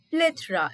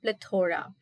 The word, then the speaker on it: plethora: The word is plethora and not plethora. If you place the stress on the word toe, it's incorrect. The stress has to be on play, and again it is not a toe but it is th.